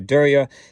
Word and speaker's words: Derya: So Derya is how it's pronounced, and it means sea.